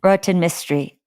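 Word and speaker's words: Rohinton Mistry: I recognize, but I have no idea how to pronounce. And then A Fine Balance by, here's another one, Rohinton Mystery. Rohinton Mystery.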